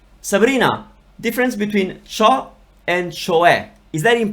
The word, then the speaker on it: cioè: So the pronunciation is cioè.